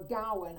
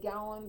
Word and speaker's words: Gawain: an element within gawain whereas gawain or gowan i was taught to say gallum but it seemed like everybody else said gawain and i started to say it gawain was very loyal